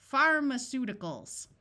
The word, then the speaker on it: pharmaceuticals: Pharmaceuticals. Notice the A takes on the muffled schwa sound of or I.